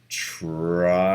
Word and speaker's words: triangles: tell me the letters t r i a n g l e s now tell me the sounds and the e is silent and then like for